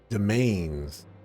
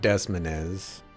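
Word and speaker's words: demesnes: under its iron yolk domains is apparently how you're supposed to pronounce that not desmonez desmeznes now the archduke's army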